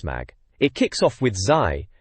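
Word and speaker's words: Zy: It kicks off with Zai, they spell it Z-Y, mind going on about Yoshi's story.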